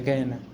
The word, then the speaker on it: Gehenna: Bueno, la palabra griega que está ahí es una palabra que se pronuncia Gehenna.